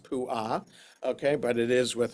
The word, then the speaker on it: Puah: So the accent mark was actually on the second syllable as well. Oh, it is on the second syllable too. Okay, so it is pronounced puah.